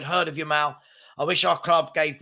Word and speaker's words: Yamal: Shamal, not Lamal.